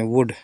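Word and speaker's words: wood: यूज होता है इसमें इसको बलड नहीं पढ़ते बुड पढ़ते वुड यह ऑफर ऑफर मींस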